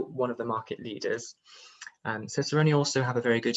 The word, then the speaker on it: Cicerone: We also have Cicerone, jury's out as to how you pronounce that one, but I say Cicerone.